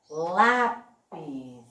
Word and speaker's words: lápis: Lápis. Olha como lá eu falei mais alto e o pis eu diminui um pouco, certo? Então, qual é a sílaba tônica aqui? Exatamente, é o lá.